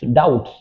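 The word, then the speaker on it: doubts: There are many डाउट्स इन her mind, there are many डाउट्स, डाउट्स B silent रहता है, डाउट्स, डाउट्स मतलब शक, तो there are many डाउट्स इन her mind, उसके दिमाग में बहुत सारे शक है।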